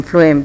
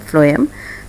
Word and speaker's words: phloem: PHLOEM फ्लोएम, the spelling is PHLOEM। ये इसको correction कर लीजिएगा, PHLOEM फ्लोएम।